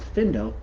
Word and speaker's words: Findo: So for example, in a Findo in my window, I know that it's pronounced Findo because I can pronounce the word window.